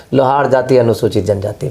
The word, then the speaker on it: लोहार: बिहार में देख लीजिए कोई नहीं है लोहारा कहीं नहीं है है कहीं नहीं हम लोग लोहार है अच्छा उसका स्पेलिंग अंग्रेजी